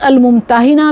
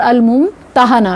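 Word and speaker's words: الممتحنة: اس کی تلفظ الممتحنہ بھی اور الممتحنہ بھی، اسم فاعل یا اسم مفعول.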